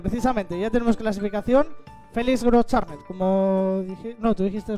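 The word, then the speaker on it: Großschartner: Luego ya me dijeron cómo se pronuncia. Y sí, Félix Groschartner, que no sé si le vamos a poder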